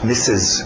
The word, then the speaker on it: Mrs: toma cuidado com abreviação tá escrito Mr RS mas não tem nenhum R na pronúncia E você vai querer dizer Mister M algum R não tem R cuidado com a sua pronúncia Miss misses Ok misses então a